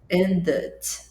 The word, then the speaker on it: ended: Pois bem, aí tá, ended, veio o D antes. Esse E vai ser finalmente pronunciado, finalmente. Mas não vai ter som de E, vai ter som de ended.